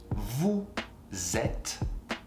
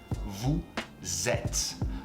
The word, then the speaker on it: vous êtes: Vous êtes. Accent circonflexe, this accent on the E is pronounced E. Think about 7 in French. Sept. Sept is E. Vous êtes.